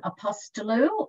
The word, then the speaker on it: Apostolou: in the world no problem Holly I'm apostolou it's actually very fanatic if you think of